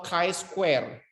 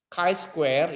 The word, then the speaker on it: chi-square: Lakukan uji Z, T, F, atau chi-square. Chi-square, bukan chi ya, chi bacanya, chi-square.